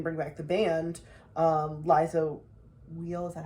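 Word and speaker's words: Liza Weil: like we didn't bring back the band um liza wheel is that how you pronounce her name yes love her well i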